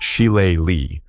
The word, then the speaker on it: shillelagh: This formidable item is identified as a shilalag, pronounced shile-li, a traditional Irish stick or club.